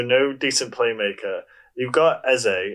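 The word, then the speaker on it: Eze: without wilfred so no decent playmaker you've got essay it's how you say his name he's actually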